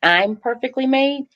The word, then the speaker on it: IMperfeKtlymade: say this that the the pronunciation for the foundation it's I'm perfectly made I am uhuh so I am